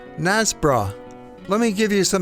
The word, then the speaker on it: Knaresborough: It's quite simple, but from the spelling it might look to some people that it's called Knares borough, but the locals just say “Nazzbrah”.